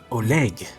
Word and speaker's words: Oleg: Oh, sorry, is that how you pronounce your name? Oleg. Yeah.